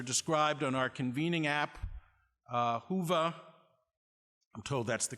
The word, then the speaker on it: Whova: Their backgrounds are described on our convening app, Whova. I'm told that's the correct pronunciation.